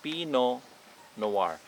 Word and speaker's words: Pinot Noir: need to pronounce the peanut the t so pinot noir some of them they pronounce it pinot noir which both of them